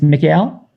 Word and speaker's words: Mikhail: don't want to pronounce it's mickey l yes sir you're saying correctly mikhail hardcake mikhail jorge